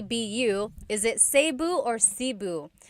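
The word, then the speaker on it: Cebu: it seu or SIU so technically in theal alphabet the letter e can be pronounced e or E like the letter I so I say SIU SIU and I know some people say seu but usually it's either SIU or sebu good question all right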